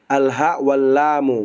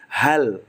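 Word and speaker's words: هل: Jangan antum mengatakan hal ini alhallamu. Bukan. Tapi antum sebutkan hal gitu.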